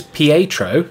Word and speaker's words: Pietro: And today is Pietro, who is, that's apparently how you say it, Pietro's birthday.